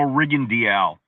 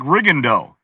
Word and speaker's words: Rigondeaux: Like a great example is when I announced Guillermo Rigondeaux. The way his name is spelled, it looks like Rigondeaux, right? But I went to him and he said, my name is Guillermo Rigondeaux. I said, Rigondeaux.